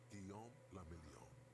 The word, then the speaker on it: Guillaume la Million: Guillaume la Million. What a name. If it doesn't rhyme, you're not pronouncing it right.